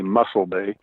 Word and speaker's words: Mossel Bay: all but I think although it looks like Mosul, I think they say Mossel Bay or something to that effect. But I could be wrong. The Afrikaners call it that.